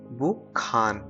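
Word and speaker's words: 북한: और हान लिखा है, लेकिन जब हम इसको प्रोनाउंस करेंगे तो क्या हो जाएगा ये बुखान।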